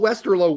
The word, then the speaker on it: Westerlo: I said it's not Westerloo, it's Westerlo. You're getting it confused with Waterlue, which has two O's. Westerl low has one O pronounced differently.